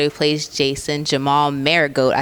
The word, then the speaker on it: Manigault: So I'm sitting here with the star of Jason's Letter, who plays Jason, Jamol Manigault. I said it right? Manigault.